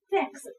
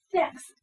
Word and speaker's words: thanks: thirsty，I'm thirsty。OK，那说 thanks 同样是咬舌音，thanks 注意发音的时候小舌头伸出来，thanks 谢谢。